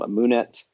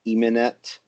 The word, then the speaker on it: Amunet: Yeah, people say Amunet, but the U vowel is actually coming from the Coptic pronunciation of Amun.